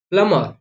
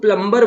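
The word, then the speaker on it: plumber: बट आपको पता है कि एम के बाद बी आया है, आपको रूल पता है तो आप इसका प्रोनाउंस नहीं करोगे। आपको रूल ही पता नहीं रहेगा तो आप क्या करोगे? गलत प्रोनाउंस करोगे ना भाई। तो एम के बाद आपका बी आया है, दैट्स द रीजन आप यहाँ पर प्लमर बोलेंगे।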